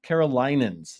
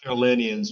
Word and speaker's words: Carolinians: affect many South Carolina carolinans. Is that how you say it, R? Is it Carolans? No, South Carolinians, but Kevin, I'll give you a break.